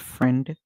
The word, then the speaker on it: friend: One thing you have to remember when spelling the word friend, that the I in the word is silent.